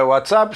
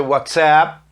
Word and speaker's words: WhatsApp: Essa aula será transmitida para o grupo de WhatsApp da sua turma, que em inglês não é WhatsApp, se pronuncia WhatsApp.